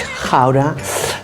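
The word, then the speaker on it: Gouda: very mature cheddar or a Dutch howder uh yeah that's the way you pronounce it in Holland um and it is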